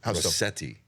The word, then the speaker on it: Rossetti: Your pronunciation of Rossetti. It's very Italian.